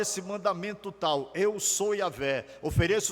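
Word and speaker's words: Yahweh: E a pronúncia mais próxima que se entende desse nome é Iahweh.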